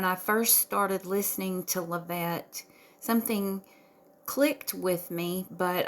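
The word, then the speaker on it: Lavette: on on YouTube um her channel name is levette and that is spelled l a v as in Victory e t t e love it um her little icon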